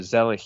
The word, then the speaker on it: Zelig: We're going to talk about 1983 ZELIG, or ZELIG, if you want to pronounce it correctly, in a German pronunciation.